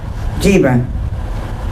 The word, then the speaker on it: Gebra: Gebra rhymes with zebra.